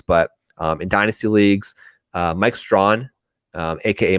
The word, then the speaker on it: Strachan: A guy that, look, you're not going to be drafting him in redraft leagues, but in dynasty leagues, Mike Strawn, aka Mike Strachan, is pronounced Mike Strawn.